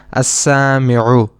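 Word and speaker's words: السامعُ: We directly connect the hamza with the sin and we pronounce this noun as as-sami'u.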